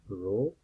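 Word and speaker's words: rho: use the term this this is pronounced as row Greek letter row it looks like letter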